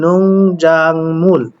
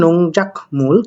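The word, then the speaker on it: 농작물: তো দেখেন এখানে আমরা দেখলে একটা জিনিস বুঝতে পারি, নোংজাংমুল। এখানে উচ্চারণটা আপনারা করতে পারেন নোংজাকমুল, কিন্তু এটা আসলে নোংজাকমুল হবে না, নোংজাংমুল হবে।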